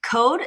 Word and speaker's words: Qode: Code is just like coding, cood, but it's spelled with a Q to start with because I want to emphasize a Q because quality comes first for our uh company.